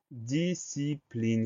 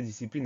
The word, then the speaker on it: discipline: Deuxième syllabe, si, le son S va s'écrire avec un S suivi d'un C. Donc il est là le piège, le son S s'écrit S-C comme dans piscine, entre autres.